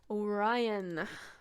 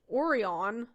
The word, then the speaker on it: Orion: Orion. Which I learned here in Germany is pronounced Orion. But I say Orion, and I always have growing up in California.